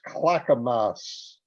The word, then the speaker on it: Clackamas: says that the pronoun the correct pronunciation is clackamas for the town in oregon i think my tongue